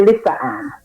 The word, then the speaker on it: Lyssa-Ann: I'm here I'm me is your name pronounced Lisa l y SS a it's actually Lisa an Lisa an okay Lisa